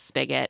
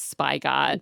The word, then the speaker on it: spigot: Jess also pronounces Spigot as spy god. And Spencer does know spigot. He's like, "That's wild.